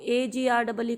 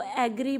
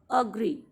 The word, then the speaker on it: agree: A as in alert. It is not alert. It is alert and agree. अब maximum लोग इस word को AGREE को एग्री बोलते हैं, एग्री.